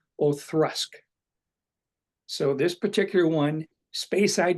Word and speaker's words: Auchroisk: The one that tell me that is correct is one called, it's Auchroisk.